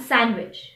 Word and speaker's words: sandwich: as wednesday pledge grudge some random words which have the letter d silent in them are handsome and sandwich the letter e now